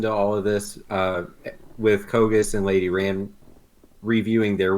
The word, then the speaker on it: Kogass: Okay, you can pronounce it Kogass if you're not a big fan of the big ASS at the end of it.